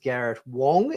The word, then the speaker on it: Garrett Wang: Harry Kim's actor Garrett it is in fact pronounced Garrett Wong even though it's written Garrett Wang ah okay well there